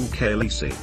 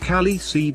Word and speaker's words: Khaleesi: David Peterson, discussing how the word should be said, he stated, "There's no way it should be pronounced Khaleesi based on the spelling."